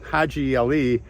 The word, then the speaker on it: Haji Ali: And I think, well, and his name, Haji Ali, they couldn't pronounce that, right? They didn't have, Americans, they don't have patience. They call him Hijali.